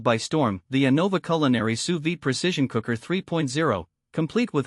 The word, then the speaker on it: sous vide: Well, sous vide, pronounced sous vide, is a cooking technique that uses precise temperature control in a circulating water bath.